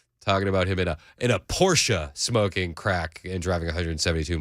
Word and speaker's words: Porsche: It's Porsche, not Porsche. Don't pronounce it like ignorant Hollywood idiots who buy